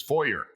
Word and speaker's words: Forer: His last name is spelled Forer. And he says it's Foyer. And I'm like, wow, I think that's Fourier. Like, it sounds French. He goes, well, it's not French.